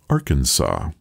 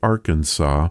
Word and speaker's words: Arkansas: the final s while arkansas stuck with the original french pronunciation which kept that final s silent that bit of knowledge